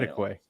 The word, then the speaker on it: Kittiquay: Kittiquay? There you go. That sounds better. That's the way that they're saying that is pronounced. Kittiquay.